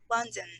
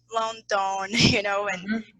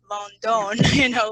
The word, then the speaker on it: London: that it is pronounced, the vowel is pronounced in a very weak way, like London, like London, and we have our native language and we try to make the connection.